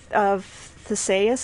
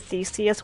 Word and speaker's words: Theseus: I just killed one of the mercenaries, and I got bracers of Theseus. Is that... Well, I always pronounce it Theseus when I was growing up, but I think in this game they call it they pronounce it Theseus.